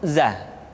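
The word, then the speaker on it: ز: berikut ro R selanjutnya huruf Za diucapkan dengan cara ujung lidah kita berada di antara dua gigi seri bagian atas dan bagian bawah menyerupai dengan pengucapan huruf z di dalam huruf latin tetapi ingat huruf Za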